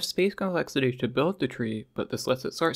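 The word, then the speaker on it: trie: It uses something called a tree, spelled with an I, which categorizes strings alphabetically,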